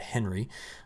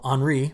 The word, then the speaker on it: Henri: now i mispronounced that on monday calling it henry i looked up the pronunciation right after i recorded and post the video and i'm like shoot i got it wrong well henri which is right here is currently a tropical